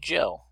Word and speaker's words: Zhou: It's pronounced Joe, like average Joe on the street.